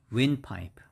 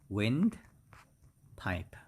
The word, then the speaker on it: windpipe: is like that so the stress is on the first syllable and the next is just pipe so it's windpipe windpipe okay and 61.